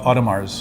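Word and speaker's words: Audemars Piguet: you oughta MA you you would think you pronounced yes but you don't that's kind of like the silent world letters from France you would also take it's three syllables yeah autumn ours now yeah no it's not so it's really two syllables yeah enough yeah poor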